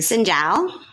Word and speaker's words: Xin chào: Xin chào. Xin chào?